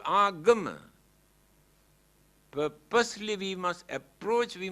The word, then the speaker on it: agama: Here and now, they pronounce as ugama. But the original word is agama.